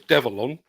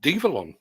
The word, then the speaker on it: Develon: continues we are develon I think I may need to rethink how I'm pronouncing that I thought it was devilon because apparently it's a it's a conjunction of the word develop and Innovation devilon apparently the Americans are going with devalon evil on there you